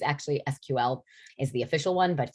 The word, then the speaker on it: SQL: do you pronounce it sequel or sql and and the answer really is both and you'll you'll hear it both ways but if you want the official it's actually sql is the official one